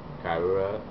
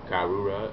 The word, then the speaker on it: Karura: And Gaara's mother, I believe how you pronounce it is Karura. Karura, yeah, Karura.